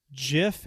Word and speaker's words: GIF: Do a little GIF. Yes, I said GIF because that's the proper pronunciation.